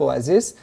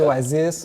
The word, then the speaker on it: Oasis: Bon, moi, je l'ai dit à la française, Oasis, mais on prononce plutôt Oasis.